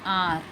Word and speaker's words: hour: Before a word beginning with a vowel sound, an is used, such as an ass, an enemy, an orange, an hour, an hair.